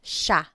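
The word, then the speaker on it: siya: and again just to point out the pronunciation it looks like it should be pronounced but it's usually pronounced Sha Sha Sila is theyo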